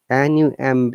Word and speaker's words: numb: Numb, there is no b sound at all. Okay, but num. Okay, but when it becomes with er, number, we must pronounce b. This time b is not silent.